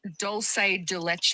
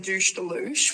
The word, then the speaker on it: dulce de leche: It's dulce de leche. I just made my very own douche de louche, which it's literally just condensed milk.